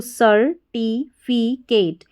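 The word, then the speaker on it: certificate: को फी पी और सी ए टी ई को केट सर्टिफिकेट सर्टिफिकेट तो यहां पर सी ई को स पढ़ा और एक और कोड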